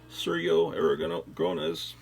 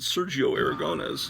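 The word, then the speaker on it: Sergio Aragonés: uh surya aragon gronas whereas i used to pronounce it sergio aragones until my wife was she's trying to get me to pronounce it right and she finally says oh i give up you're just gonna say it with an accent but at least it's better than what you used to say she says you gotta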